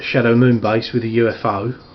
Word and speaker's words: UFO: moon base with a UFO or a eupo some people like to refer to it uh given how that was largely regarded as the pronunciation of the uh object at the time of the program you've got Sky one